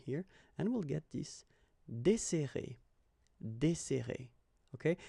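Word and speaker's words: dessert: So no accent here and we'll get this deser. Okay. So we've got this double S. So it will open the sound of the uh here. That's the reason why I pronounce it like eer.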